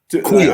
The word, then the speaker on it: Aqueel: Queel. I'm not being a Queel. Queel, Queel. It is. Although there's no U there, there's a U there. You know what I'm saying? Okay. So it's spelled Aqueel. Okay. And there should be a U in there. So we were calling him Akil too for like a year or so, but it's a Queel.